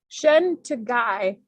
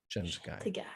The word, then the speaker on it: Shen Tegai: Somebody wrote how to say it. Oh, cool. Okay. Shen Tegai Shen Tegai Donny Pearson Shen Tegai Surnames come before forenames same goes for Bajorans. Okay.